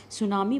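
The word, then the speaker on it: tsunami: पर आया है एंड इससे सुनामी ठीक है सुनामी बोलेंगे आप इस मिट्टी जो है इसका साइलेंट रहेगा ठीक है आपको पता नहीं कुछ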